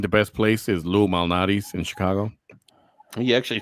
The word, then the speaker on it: Malnati's: That's what the I think the best place is Lou Malnati's which is Chicago. You actually pronounced it right.